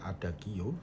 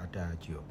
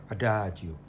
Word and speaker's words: adagio: istilah ada Hajo misalnya g-nya itu dibaca c jadi ada adaajio Bukan dibaca adagio tetapi dibaca adajio yang pertama tidak cukup dengan pronouns Yang benar saja tetapi juga aksentuasinya siswa harus us diajarkan misalnya ada Joo itu harus dilafalkan adaajo adaajo tekanannya bukan pada suku kata pertama ataupun terakhir karena di dalam bahasa ital